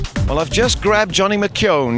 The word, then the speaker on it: McKeown: Well, I've just grabbed Johnny McKeown. You have to pronounce that as though it's got a W in it, and I hope I've got it right.